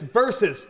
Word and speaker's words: versus: Very good, and it's versus. Don't say V, it's versus. It's one more syllable.